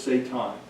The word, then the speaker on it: Satan: This, and the pronunciation is Satan.